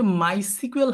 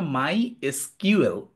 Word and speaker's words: MySQL: হ্যাঁ, দেখেন, আপনার মাথার মধ্যে একটা জিনিস আসতে পারে যে মাইসিকুয়েল, হাসিন ভাই বলতেছে মাইসিকুয়েল, আবার অনেকের কাছে শুনি এটা মাই এসকিউএল। বোথ প্রোনাউন্সিয়েশন আর ফাইন। আপনি মাই এসকিউএল বলেন অথবা মাইসিকুয়েল বলেন, দুটাই পারফেক্টলি ফাইন।